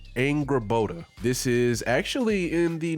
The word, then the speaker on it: Angrboda: So it's pronounced Angrboda.